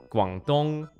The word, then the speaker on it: Guangdong: I'm going to use the Chinese pronunciation. Shandong, Guangdong, Shanghai, Zhejiang, Jiangsu, Henan, Fujian, Sichuan, Liaoning, Hunan.